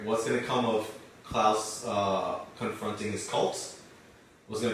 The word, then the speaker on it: Klaus: It's Klaus, by the way. Whatever. Klaus. It rhymes with Klaus, guys.